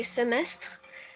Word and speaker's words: semestre: Well, we say in French, but I can just say We say it like semester. In French, we say semestre.